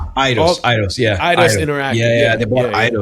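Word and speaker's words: Eidos: I don't know how do you say that e d oos idos idos yeah idos interact yeah yeah they bought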